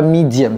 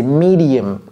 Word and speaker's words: medium: Ne dites pas medium. C'est pas medium, c'est medium. Medium.